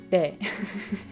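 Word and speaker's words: 네: Protože když uslyšíte Korejce mluvit, tak si možná povšimnete, že oni to ne říkají, jako když Čech říká ne, ale má u toho rýmu. De. De.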